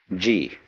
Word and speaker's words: ji: First of all there is a a a level of being which we will call G. The word G, which is Japanese way of pronouncing the Chinese chur, is the world of things and events.